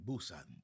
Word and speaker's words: Busan: Some people Boo or Poo? It's spelled with a P, but they say Busan.